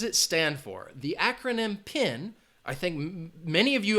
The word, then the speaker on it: PIN: And if somebody's talking about your PIN, it is an acronym. You pronounce it as one word.